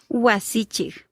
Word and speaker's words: wasichik: So if you listen closely, yes, the word ends with a K, but it's not pronounced as we would pronounce it in English.